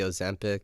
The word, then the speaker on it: Ozempic: So back to like the Ozempic. Is that how you pronounce it?